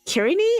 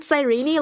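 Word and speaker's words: Cyrene: Wait, did did you just say Kirini and not Sirene? Like everyone was telling me to pronounce it.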